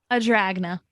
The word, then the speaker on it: Adragna: How do you say your last name? Adragna. It sounds like a dragon.